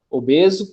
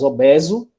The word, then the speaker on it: obeso: é o caso de obeso, coeso e obsoleto, que podem ser pronunciados com E aberto, ou seja, podem ser pronunciados obeso, coeso e obsoleto.